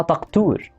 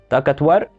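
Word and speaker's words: ڈاکٹر: الكلمه دي انت هتنطقها ازاي؟ هتنطقها تقتور. انا كنت بنطقها كده في البدايه، بس هي ما بتنطقش كده، هي بتتنطق تاكتور او تاكتفر، الاثنين تمام.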